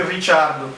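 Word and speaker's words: Ricciardo: É, mas o o Daniel Ricardo vai continuar sendo Daniel Ricardo, pelo jeito. Mas os pilotos mais italianado, tipo o Felipe Massa, vão sempre chamar ele de Richardo, mas como não tem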